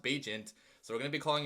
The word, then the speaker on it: Bagent: secret Beach apparently because that's how you say his name it's bajent not badgent which I made the mistake of saying it badgint before too but it's bajent it's pronounced bajent so we're gonna be